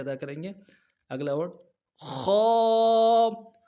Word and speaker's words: خ: اگلا ورڈ خو، موٹے حروف میں سے ہے، یہ گلے کا وہ حصہ جو منہ کی طرف ہے وہاں سے ادا ہوگا موٹا خو.